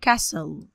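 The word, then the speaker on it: castle: ميه بف قلعه يعني كسل ودي ناون اسم لو تلاحظوا ان هنا التي سيلنت لا تنطق اسمها ايه بقى كسل قلعه كاسل يعني ثقافه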